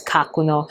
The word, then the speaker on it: Kakuno: Other people have said kakuno. Again, it's probably the English way of saying it, but in Japanese, it is pronounced as kakuno.